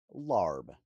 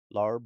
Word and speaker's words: larb: Larb, also found with the spelling lab, which is closer to its phonetic pronunciation, is a beloved culinary diplomat of Laos and is often touted as that country's national dish.